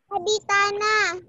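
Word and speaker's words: Adhitthana: Aditana. Oke, membacanya seperti ini ya. Aditana. Aditana. Oke, membacanya adalah Aditana.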